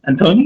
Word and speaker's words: Antoni: So yes, hey everyone, it's Richie Rich back again with another collaboration video, and I got a really, really special guest today, Antoni. Antoni, am I saying it right?